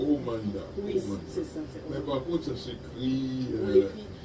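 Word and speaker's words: Amhana: les nouvelles personnes que on le prononce dans sa version vraiment originale qu ok c'est omanda mais par contre ça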